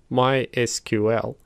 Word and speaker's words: MySQL: database vendors for example MySQL is pronounced as MySQL whereas Microsoft SQL Server is pronounced as SQL Server sometimes I trip up